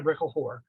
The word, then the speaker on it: Brickell: Hannah that's her married Hannah Brickle and that is how you pronounce it I had to